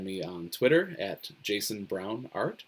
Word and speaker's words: Braun: on Twitter at Jason Brown art my last name is brown but it's spelled the German way BR aun so if you prefer